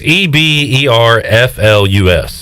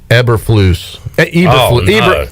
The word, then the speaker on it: Eberflus: pronouncing it uh eber eberflus it's either flues or yeah you don't even know but it's flu it ends with flu it sounds like flu so it's pollution i